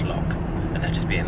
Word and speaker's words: loch: It's pronounced lock.